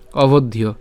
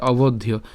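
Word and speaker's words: অবধ্যো: করব অভদ ইয় তাহলে এটা পুরাটা আমরা একসাথে উচ্চারণ করতে পারি অভদীয় ঠিক আছে অভদীয় এরপরে যে এখানে যে অর্ধমাত্রা হচ্ছে আছে সে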